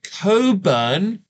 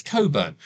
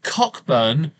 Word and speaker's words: Cockburn: it's spelled like that but the CK in the middle is silent it's Coburn well David never bothered